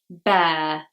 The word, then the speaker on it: bear: Number 12, bear, bear. Same sound as hair, hair, or care. It's air, which is a diphthong.